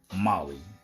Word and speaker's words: MOLLE: hello Molly to start Molly is pronounced like the name Molly mo LLY but it